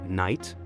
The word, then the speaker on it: knight: and who could forget the brave knight with armor and veiler the key stands still while Tales of chivalry unfold when we knock that